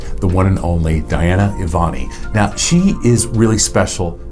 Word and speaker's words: Evoni: I've been saying it wrong on our thing. I was saying Evoni. It's Evoni? Yes.